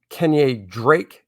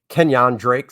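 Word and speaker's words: Kenyan Drake: josh is a niner uh then we got kenya drake kenyon drake sorry kenyon drake uh the names up here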